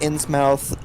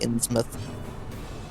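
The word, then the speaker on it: Innsmouth: mouth uh in smith ins mouth uh it's actually usually pronounced in smith but that's why would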